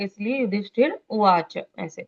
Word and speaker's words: युधिष्ठिर: करने की जरूरत नहीं है कि युधिष्ठिर बोल रहा है इसलिए युधिष्ठिर उवाच ऐसे, अच्छा। लेकिन वो र का उच्चारण पूर्ण करना होता है।